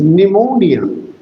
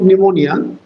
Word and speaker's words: pneumonia: Your accent. Your stress is on more is on more pneumonia because it is a tricyic word.